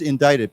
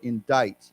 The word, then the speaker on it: indict: Now, indictment is the 名词, the noun for indict, indictment, indict, okay? Now, remember, I know we've learned this word before. We do not pronounce the C. It's like D-I, it's almost like I-T-E, I-ite, right? No C.